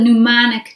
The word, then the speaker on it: mnemonic: you what's called the mnemonic device i like the way this word is spelled with an mn mnemonic device and it